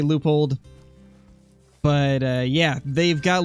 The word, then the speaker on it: Leupold: however you pronounce it i know some people pronounce it leupold as some people pronounce it leopold or lewipold or whatever i always say loopholed but uh yeah they've